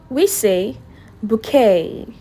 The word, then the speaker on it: bouquet: We say bouquet. Bouquet. Not bouet. No, the t silent. So you say bouquet.